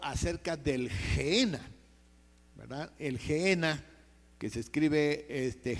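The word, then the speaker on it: Gehena: N a, o sea, N a y se pronuncia genena esta palabrita.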